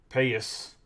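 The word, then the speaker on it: Pagés: Everson artiga Jace Jung Andy payus I guess is how you say his name from what Kevin was saying Roger correas and Crawford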